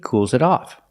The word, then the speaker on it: cools it off: You hear the S in cools is pronounced with a zebra sound. Z. Together. It cools it off. The T in the first it is a stop T.